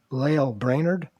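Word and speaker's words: Lael Brainard: And Lael Brainerd, did I pronounce that right?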